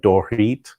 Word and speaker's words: Dorit: It's Dorrit, but it sounds like there's an H in there when you pronounce it. It's like Dorit. And I think you don't even see, it's not the eat, it's Dorit, or it's very shortened.